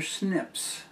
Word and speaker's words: SNP: recognize and pronounce uh the practice has been to put a little i between the uh n and p and make it spell snip and they are so